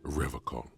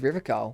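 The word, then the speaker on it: Revachol: it off he pronounces rivol with a hard K unlike other people you said rivol I like to pronounce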